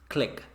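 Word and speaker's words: Cliq: system then get dissolve Oh click app it's pronounced CL I Q click on your mobile device on here on the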